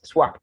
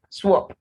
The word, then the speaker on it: swap: u so we have swap it's not swap swap swallow swan swamp squash